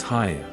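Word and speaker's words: Haigha: happy his name is Haya he pronounced it so as to rhyme with mayor I love my love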